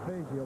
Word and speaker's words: Fazio: His name is pronounced Fazio, by the way.